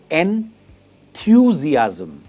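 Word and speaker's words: enthusiasm: इसकी प्रोनाउंसिएशन है एंथुसियाज्म। इट इज एंथुसियाज्म। जो स्ट्रेस है वो मिडिल पार्ट पे आता है, थ्यू पे आता है, एंथुसियाज्म, जिसका मतलब होता है उत्साह या जोश, उसे हम कहते हैं एंथुसियाज्म।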